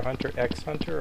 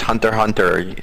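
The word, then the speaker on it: Hunter × Hunter: favorite anime hunter hunter how do you pronounce it is it hunter times hunter or hunter x hunter or what no just hunter hunter the x is so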